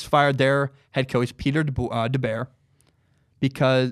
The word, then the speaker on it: DeBoer: I was watching an NHL game, literally because I was trying to figure out how to pronounce his name. The announcer called him DeBoer.